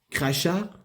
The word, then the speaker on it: crachats: Et chacun de ces crachats, oh, je ne sais pas comment ça se prononce. C-R-A-C-H-A-T-S. Crachats. Parce qu'il y a S à la fin. Sinon, c'était crachat. Voilà.